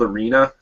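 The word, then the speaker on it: Aerena: play this game called arena which is spelt weird it's a e r e a and it stands for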